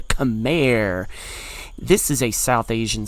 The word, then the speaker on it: Khmer: go to another civ with a hard C at the beginning, and that is the Khmer.